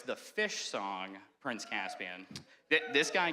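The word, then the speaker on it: Phish: or you're like what's fish um it's not fish like the underwater creature it's uh it's the jam band spelled with a pH um but my my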